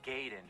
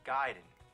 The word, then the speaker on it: Gaiden: We're talking Ninja Gaiden. Everyone always said Ninja Gaiden, but I know for a fact it's Gaiden.